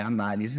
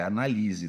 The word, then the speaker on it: analise: Não é análise, não. É analise, tá?